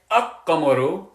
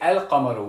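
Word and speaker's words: القمر: Yes, we do. We don't say Aq-Qamaru. We don't say Aq-Qamaru. We say Al-Qamaru. We do pronounce the lam.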